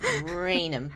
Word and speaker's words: Raynham: Okay, yeah, because it's spelled like Raynham. So I want to say Raynham, but I'm like, no, don't say that. Raynham. It's Raynham. Raynham.